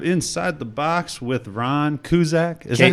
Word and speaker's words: Kaszuk: It's actually pronounced Kaszuk, but my family, Kaszuk. But my family though, when they got off the boat from Poland, somebody mispronounced it and said Kaszuk. So that's the way they say it. They actually say Kaszuk because they thought that sounded American.